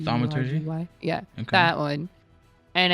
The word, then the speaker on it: thaumaturgy: So if I do that and then I cast, I can't pronounce this one. It's THAUMATY. Thaumaturgy?